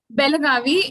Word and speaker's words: Belagavi: Belagavi. It was known as Belgaum, but then it was renamed recently, said Belagavi. So we still pronounce it. Some people pronounce it as Belgaum, and we write it formally as Belagavi.